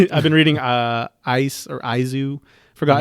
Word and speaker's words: Is: Yeah, it's eyes, but it's pronounced Izu because it's a play on words of I, which can mean love or sorrow.